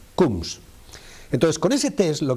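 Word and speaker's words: Coombs: con el análisis que tú has dicho, el test de Kums, un test que se escribe es el nombre de un fulano que describió la prueba, se llama C o O MBS, coms cums.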